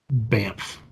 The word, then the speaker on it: Banff: Banff. Banff. Yeah, it's at first I thought it was like BAMF, like badass, but like that's a name of town, and it's not. It's spelled different, but I don't know.